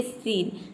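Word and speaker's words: scene: यहां पे देखिए सीन। सीन में आप देख सकते हैं कि एस सी के बाद लेटर कौन सा आया है? इ आया है। यहां पे देख सकते हैं ई। तो यहां पे हम एस सी को क्या प्रोनाउंस करेंगे?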